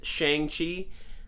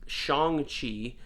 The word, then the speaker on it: Shang-Chi: in my head as Shang-Chi, even though now that I know that the correct pronunciation is Shang-Chi, closer to Sean, which is his American